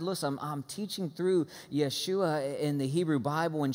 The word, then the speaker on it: Yeshua: guys I'm Jewish so I'm probably gonna slip into just saying Yeshua now when I say that don't say god bless you that's not a sneeze that's how we say his name in Hebrew okay so if you're okay